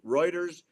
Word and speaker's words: Reuters: Network Guardian the guardian Reuters CBS News Associated Press and on and got roers how you say it yeah Reuters news agency I've got